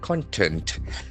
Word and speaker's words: content: Whereas the adjective has got another pronunciation. Content. Content. Content. The accent falls on the second syllable.